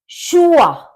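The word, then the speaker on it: Schuhe: शुआ शुआ मतलब शूज अब आप देखेंगे एस सी एच दोनों का मिलाकर श होता है इसमें खाली सी एच होता है तब भी श होता है और सी एच से पहले एस लग जाता है तब भी इसका प्रोनंसिएशन शाही हो होता है तो शू आ यानी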